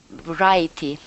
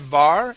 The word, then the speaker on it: variety: Variety. Yeah, so instead of var, it is variety.